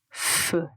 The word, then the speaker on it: feu: Quand vous le prononcez, vous prononcez la lettre F et puis vous prononcez juste le son E.